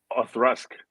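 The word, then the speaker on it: Auchroisk: thing I keep mispronouncing the acrosal what is what is it again what's the correct pronunciation arthurasque or thrust right okay yeah I mean aw like awe and thrusk like t-h-r-u-s-k right okay yeah it's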